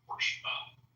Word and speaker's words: Porsche: You just call it a Porsche. Because that's how it's pronounced.